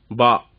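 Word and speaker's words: باء: ஏத்தி விடுறீங்க, கீழே ஒரு புள்ளி வச்சாச்சா, அவ்வளவுதான், பா. இந்த உச்சரிப்பு எப்படின்னு சொன்னா, பா அப்படின்னு சொல்லக்கூடாது, பி உச்சரிப்பு அல்ல, ஏ பி, அந்த பி உச்சரிப்பு, பா.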